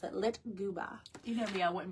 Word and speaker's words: lyktgubbe: So the Swedish believe the floating lights are called Litguba. That is spelled Lyktgubbe. And I had to go online to like know how to pronounce it. Litguba.